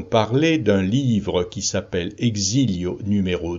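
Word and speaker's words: Exílios: d'un livre qui s'appelle exilio numéro 2 je le prononce à la française mais c'est un livre portugais un beau livre qui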